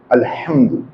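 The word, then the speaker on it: الحمد: हा इज a moon letter. तो आप मून लेटर की हेडिंग जो बनाई है आपने उसके नीचे हा ऐड कर दीजिए। तो हमें याद रहेगा कि ये इसमें अलफ लाम को प्रोनाउंस करना है। अल्हम्दु दो बातें समझ में आ गई। एक तो हा अगर हम के साथ अलफ लाम लगे तो हा प्रोनाउंस होगा।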